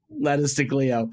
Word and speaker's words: Letters to Cleo: a Boston band and she she so you're pronouncing it wrong it's lettu us to Cleo lettuce to Cleo and um she she is famous for singing